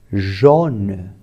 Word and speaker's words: jaune: Por exemplo, A mais U, a pronúncia delas juntos é O. Jaune, que significa amarelo.